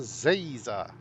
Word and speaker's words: Zaza: It's Professor Zaza. Like laser. How hard is that?